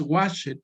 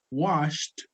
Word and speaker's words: washed: No es clean it, no es work it, no es play it, no es wash it, no es cook it. No, se pronuncian como si todos terminaran con T.